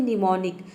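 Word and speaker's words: mnemonic: rule number दो है यदि किसी वर्ड के शुरू में एम और एन एक साथ आता है तो इसमें जो एम लेटर है वह साइलेंट रहेगा एम को हम प्रोनाउंस नहीं करते हैं एग्जांपल देख लेते हैं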